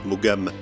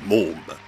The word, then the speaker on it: Maugham: Non, Somerset Maugham n'écrivait pas spécialement des nouvelles pour dames, et d'ailleurs ça ne colle pas puisque son nom ne se prononce pas Maugham, mais Môme.